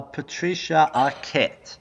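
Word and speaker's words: Patricia Arquette: So, Boyhood um stars uh Ethan Hawk and Patric Pat, how do you pronounce her name again? Uh Patricia Aette.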